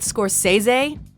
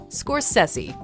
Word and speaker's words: Scorsese: it's unfortunate that many don't understand the correct pronunciation of his last name people often go with Scorsese Scorsese or even scorer Stacy but his inner circle knows the truth just